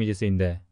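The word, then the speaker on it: Aegis: 이 세상 그 어떤 공격도 막을 수 있는 무적의 방패가 바로 이저스 아이기스 즉 미국식 발음 이지스인데 원래 이 이지스 방패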